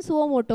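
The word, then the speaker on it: suo motu: own last batch में किसी ने बोला था मैम स्पेलिंग मिस्टेक है स मोटू लिखा है आपने स्पेलिंग मोटू ही आता है उसका प्रोनंसिएशन सुओ मोटो होता है ओके द ट्रिब्यूनल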